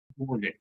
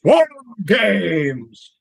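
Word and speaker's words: WarGames: 4 games. No. That's not how you say it. Shame on you. It's War Games.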